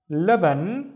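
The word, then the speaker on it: لبن: This is the la, la. And then what do we have in here? Ban, laban.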